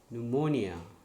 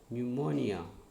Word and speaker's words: pneumonia: P is silent. PSYCHOLOGY, psychology. PNEUMONIA, pneumonia. Pneumonia.